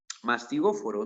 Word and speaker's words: mastigóforo: Muy bien, entonces la clave de esta pregunta sería la clave mastigóforo, ¿no? La pH es una F al momento de pronunciarlo, entonces sería la clave casa, ¿no?